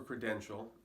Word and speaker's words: credential: The pronunciation, of course, for credential is also pretty easy. Credential. Now you may have some difficulty with the ch sound because it's not credential, there's no E sound in there.